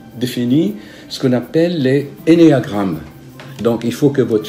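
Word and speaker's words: ennéagramme: Et vous allez vous retrouver, vous achetez le livre, ou c'est sur YouTube, sur Google, vous tapez énéagramme, comme ça se prononce, E-2-N, E-A, énéagramme.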